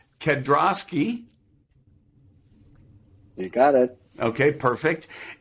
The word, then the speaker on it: Kedrosky: want to make sure i have it correct kedroski you got it okay perfect eric's the first